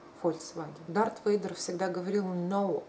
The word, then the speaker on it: Volkswagen: И я это знала еще в дошкольном возрасте, потому что я не понимала, почему люди говорят Volkswagen, если оно пишется через «V». Почему они говорят «F» — Volkswagen?